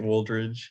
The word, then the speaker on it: Wooldridge: raw we have woldridge how do you say your name you got it right wooldridge thank you and eve